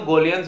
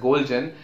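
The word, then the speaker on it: Goljan: Everybody know Golian's book of pathology, okay? A lot of people pronounce it as Golgian. It's actually Golian.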